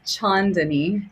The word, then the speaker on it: Chaandani: It's Chaandani. Chaandani. Okay. Phonetically, it's like the first part phonetically is Chon.